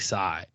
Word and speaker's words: Tsai: say the internet now Tsai how would you say that t-s-a-i t-s-a-i yeah I feel like Psy yeah it's like the teaser silent yeah so okay we'll we'll